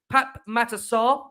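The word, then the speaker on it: Pape Matar Sarr: and Evan perisic arrest Pap matasar we've been told by Ali that is the pronunciation Pap matasar made his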